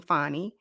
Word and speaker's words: Fani: Miss with Miss Fanny now I know that she pronounces her name fonnie but we gonna say Fanny because that's how they spelled it should have put a